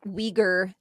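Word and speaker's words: Uyghur: So, it's the Weaguer the Weaguer Muslim. So, it's it's a funny pronunciation, but um no, it's fine.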